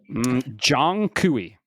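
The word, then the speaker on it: Zhong Kui: It's uh I'm I'm gonna take a guess. It's Zong Kui. I'm listening. Jong Kui. All right, that's close enough.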